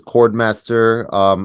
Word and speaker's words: Khordmaster: Artist name is Khordmaster. I would say the two, well, it's spelled with a KH.